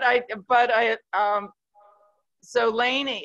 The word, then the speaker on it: Léni: but i um so laney it's pronounced laney and it's got an accent on e it's what i grew